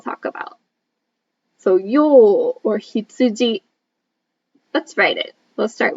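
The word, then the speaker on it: ひつじ: that we will talk about so you or hitsuji let's write it we'll start with me and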